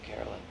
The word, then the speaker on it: Carolyne: But maybe there were bits of Carolyne -- [pronounces last syllable with long i] Carolyne -- Carolyne.